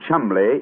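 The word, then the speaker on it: Cholmondeley: yet no reason to know that the name Chumley is in no way pronounced the way it is stout to endure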